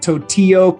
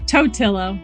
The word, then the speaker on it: Totillo: wicked reports today i have with me tortillo did i pronounce that right by the way toetillo it's okay that's much better than what i